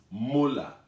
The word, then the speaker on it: molar: the capital m and we pronounce that m as muller so if i write